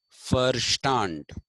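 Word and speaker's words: Verstand: I will be using firstand v e r s t a n d is pronounced V is pronounced fa in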